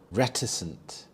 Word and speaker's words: reticent: Reticent. Reticent. The stress is on the first syllable. Reicent.